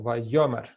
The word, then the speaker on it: Vayomer: Vayomer. Vayomer. The stress on the first syllable. Vayomer.